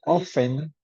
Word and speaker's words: often: In this case, you can say often without T, no? You can pronounce often, but it's more common to say often without T.